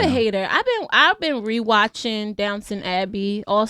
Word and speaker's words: Downton Abbey: Downtown Abbey. I did not see this look, and it's called Downton Abbey, not downtown. Oh. There is no W at the in the Dunton. T. It's TON.